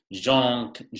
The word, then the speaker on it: Jean: His name is actually Jean Calvin, if you wanted to say it correctly.